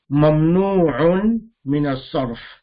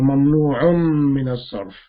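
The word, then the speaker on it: ممنوع من الصرف: Mamnu' min as-sarf, or mamnu'un min as-sarf. We can pronounce this in three ways: mamnu' min as-sarf, or mamnu'un min as-sarf, or mamnu' pause and then min as-sarf.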